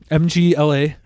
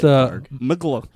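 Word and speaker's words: Mgła: MGLA. It's pronounced Mgla.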